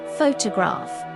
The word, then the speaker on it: photograph: Stress on first syllable. Photograph.